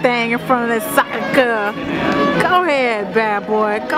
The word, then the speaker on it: Sacré-Cœur: Excusez-moi, how do you pronounce the name of this building? Sacré-Cœur.